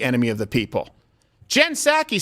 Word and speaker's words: Psaki: Saki, the bitchy ghost. Psaki. Psaki. It's there, I'm pronouncing it.